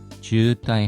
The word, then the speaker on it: 渋滞: 녹색의 덮개를 한 트럭에게 주따이 하면 정체입니다. 장음입니다. 주따이.